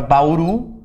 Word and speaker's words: Bauru: sílaba tônica por exemplo a palavra Bauru sílaba tônica é oru oxítona paroxítonas quando a penúltima